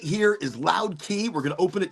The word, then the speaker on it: Loud Key: got released by Goldflower, Loud Key, not K. I mean, it's pronounced key. So like the Keys of Florida.